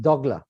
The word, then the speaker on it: dougla: have the dogla now dougla in Guyana is pronounced dogla and actually I was